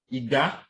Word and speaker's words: iga: If you look at this word, iga, that is what? A low, followed by what? A high.